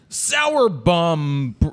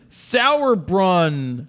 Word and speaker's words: Sauerbrunn: Liz Sauerbum. Oh, shit. I screwed it up. Liz Sauerbrunn.